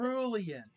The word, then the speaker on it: cerulean: Oh, that's how you pronounce it. Cerulean.